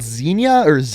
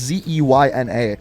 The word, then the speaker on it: Zeyna: The second character is called Xenia. I don't know how to say it properly. It's Zeyna.